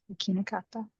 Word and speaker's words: できなかった: できなかった。できなかった。Everyone? できなかった。なかった。 Good. Stress is on the key, right?